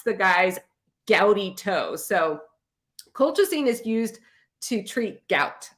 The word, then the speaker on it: colchicine: in nursing school is colchicine okay colchicine which if you sounded out phonetically it looks like cool chicken okay but it's not pronounced cool chicken it it's colchicy but